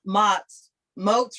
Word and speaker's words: Moats: And Rewind-A-Buddy by J. Merrill Moats rhymes with boats, Dana, Moats.